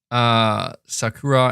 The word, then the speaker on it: Sakura: Sakura, and say it fast with enunciation.